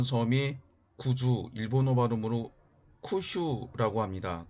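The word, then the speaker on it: 九州: 지금 왼쪽에 보이는 섬이 구주 일본 오바 돔으로 쿠 슈 라고 합니다 그 옆에는 4 9 일본어 발음으로는 시코쿠 라고 하는 섬이 있습니다 그리고 인삼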